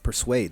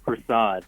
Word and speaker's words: Persaud: Persuade. Did I say that right? Persuade or Persuasion? It's actually pronounced Persaud.